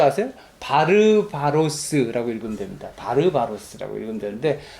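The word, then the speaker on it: βάρβαρος: 바르바로스라고 읽으면 됩니다. 바르바로스라고 읽으면 되는데 뭐 들어보셨어요?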